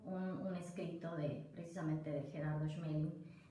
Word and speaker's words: Schmeling: Y la frase es de Gerardo Schmeling, ¿estoy bien como lo pronuncié? Gerardo Schmeling. Schmeling, ok, correcto.